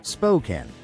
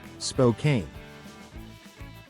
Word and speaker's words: Spokane: Pro tip, it's Spokane, not Spokane. Locals will correct you gently the first time.